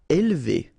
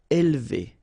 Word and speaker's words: élever: Élever. All right, so don't pronounce this here. Élever, élever.